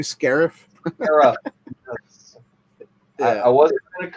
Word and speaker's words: Scarif: It's a Star Wars name, right? It's supposed to be Scarif. I wasn't going to correct you, but he did. So that's okay. I'll pronounce it that way. Scarf.